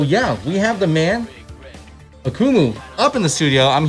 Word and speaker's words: Akumu: what is up we are here i'm in akumu is that right that's right am i saying